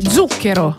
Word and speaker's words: Zucchero: Zucchero. L'accent tonique, il est sur début.